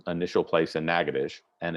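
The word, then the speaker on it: Natchitoches: is up here in nagadish uh and you'll just have to trust me that that's how that is actually pronounced um and this is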